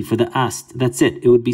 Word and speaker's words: Isis: very common all right isis is really pronounced it can be pronounced many ways east ast or just but generally it's well known as being i'm just going to do the transliteration ast so her name is